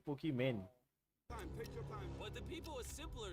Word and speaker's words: Pokimane: वो pronounce sir, वो pronunciation उसका वही है, पोकीमैन।